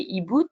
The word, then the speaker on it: HiBoot: Moi, je vais juste en citer une aujourd'hui, c'est eBoot, qui est une application avec le soutien de la Société française de rhumatologie. Ça s'écrit HIBOOT, qui est une application qui permet,